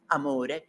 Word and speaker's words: amore: And here it is all hinging on the word amore which rhymes with furore.